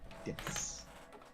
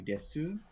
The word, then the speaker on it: です: course, would be something, des. You say desu, But a lot of the times in like des or mas, the u is barely pronounced if it's pronounced at all.